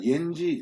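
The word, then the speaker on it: 延吉: 큰 도시입니다 여기가 연결입니다 옌지 라고 발음을 하죠 그런데 막상 가구는 조선족들 얘기를 엔진 이라고 발음하는 사람은 없습니다 다들 0 길이라고 합니다 연길에서 202번 목표를 따로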